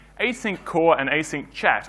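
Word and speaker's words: asynchat: So in 1999, Python 1.5.2 shipped with these modules called async core and async chat, or async hat if you pronounce the single C.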